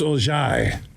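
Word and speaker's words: Orji: like it's Alex it's not Kyle it's Alex orgy and I think his real name no I'm looking at the annunciations and pronunciation guide for Michigan football it's Ojai oh that well that's a French word to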